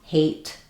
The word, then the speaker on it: hate: So the difference between, for example, hate and ate or have and have. I would really work on being able to use a nice light American H English sound in words and then being able to start words with vowels without any windy air without any H sound.